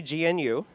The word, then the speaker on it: GNU: 1980s new which is you know with a G the silent G gnu they attempted to usurp